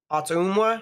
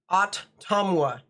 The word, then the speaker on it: Ottumwa: Or Ottumwa. That's how it's pronounced. Ottumwa. Or Ottumwa. Actually, more people are saying Ottumwa, so it's kind of like Ottawa, except not with, like, without. Ottawa has no M, so that makes sense.